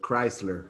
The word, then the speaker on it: Chrysler: and the chrysler building okay wisely crisis now it's perfect chrysler yes okay uh just